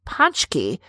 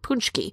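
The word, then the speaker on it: pączki: from surrounding states just to enjoy panchky some people even pronounce it punchkey but that's what we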